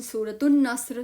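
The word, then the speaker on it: سورة النصر: चल सूरतुल काफिरून 110 सूरतु नस्र सूरतु नस्र नून इज़ a special letter Noon सूरतु नस्र सूरतु नस्र एल नहीं लाम नहीं पढ़ा जाएगा।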